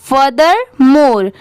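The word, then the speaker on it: furthermore: Next है फर्दर मोर, इसे पढ़ते हैं फर्दर मोर। यहाँ पर FUR, फर हो गया। THER, इसे थर नहीं प्रोनाउंस करेंगे, इसे क्या पढ़ेंगे? दर।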